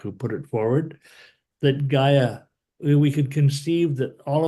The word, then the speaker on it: Gaia: was like what is GI i g a i a how do you pronounce that oh ga ga and what's a Gaia